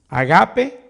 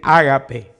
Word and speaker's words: ágape: Algunos dicen agape, otros dicen ágape. Yo la aprendí como ágape, pero creo que la palabra original es agapao. Agapao. Como aprendí a decir ágape, yo digo ágape, como que tuviera acento en la A. Otros agape, como que en la segunda A.